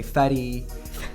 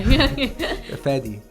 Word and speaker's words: Faydee: They would say fatty, fatty, farty, farty. Really? Farty? Farty, because in Turkish it's farty. It's a Really? different, Yeah. yeah. But you know, it's not pronounced that way, right?